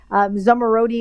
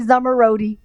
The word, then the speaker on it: Zomorodi: to say my name i'm going to teach you how to say summer roadie and now these people